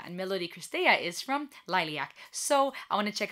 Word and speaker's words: Liliac: I said it wrong in my last reaction video. I said lilac, like the color, the flower. But the band's name is Lilac, and that is actually Romanian for bat.